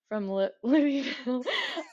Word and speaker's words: Louisville: as well, who's from Louisville. I feel like that's the right way to say it. He said you're supposed to say it like there's something in your mouth. So like Louisville, something like okay, that.